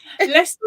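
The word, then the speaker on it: Leicester: take over sure yes do that do ready Lester and Rin are other great ones I've heard it pronounced Lester sh yes and a reading is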